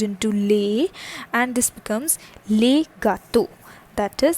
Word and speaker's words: gâteaux: This le gets converted into le, and this becomes les gâteaux. That is, the pronunciation for the singular and the plural remains the same, but the spellings gets converted, they gets changed.